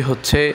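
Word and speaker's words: ح: গলার মাঝখান থেকে চেপে উচ্চারণ করতে হবে।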